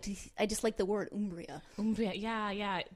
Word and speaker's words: Umbria: Umbria, yeah. The Italian pronunciation with that hard oo as opposed to Umbria as it might look.